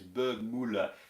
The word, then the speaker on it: Bergmüller: how I pronounce Berg, it's Müller, I think it is, Bergmüller. You're supposed to perch the lips.